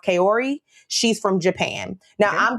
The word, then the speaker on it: Kaori: And then we have, I believe her name is pronounced Kaori.